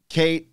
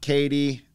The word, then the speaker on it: Caite: Caite, not Katie. Why is it spelled like that? That's KT.